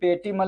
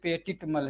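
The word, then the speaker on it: petit mal: ये पेटिमल नहीं है, ये पेटिटमल है, समझ रहे हैं, इसका स्पेलिंग।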